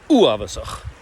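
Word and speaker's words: uabhasach: Let's see if we can get a bit of a fricative at the back there. Ch, uavasach. And of course, all Gaelic words are initial stressed. So if you can combine all that, you'll pronounce it perfectly.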